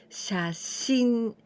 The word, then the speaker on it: 写真: This kanji and this one that we're going to learn, the next one, together we pronounce 写真.